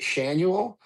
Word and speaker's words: Schanuel: I'm gonna go with that's how you pronounce it. Shanuel.